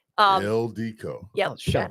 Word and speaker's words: Ildiko: Say it. Ildika. Ildiko. No. Damn it. Damn There you go. Joe. Damn it. Ildiko.